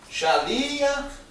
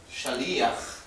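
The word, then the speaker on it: שליח: Shaliach. Ok? Shaliach. Pronúncia israelense. Pronúncia da diáspora. Shaliach. Ok? Então, às vezes, você escuta. Tá? Escuta as duas pronúncias, né?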